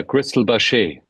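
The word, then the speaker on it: Cristal Baschet: score on the I'm probably not going to pronounce this instrument correctly the crystal bachet is that right yeah Crystal bash bash um yeah so how did you but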